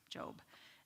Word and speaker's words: Job: His name is spelled Job. It is Job, pronounced Job.